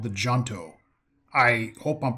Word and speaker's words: Junto: Ah, the Junto. Indeed, you've pronounced it correctly.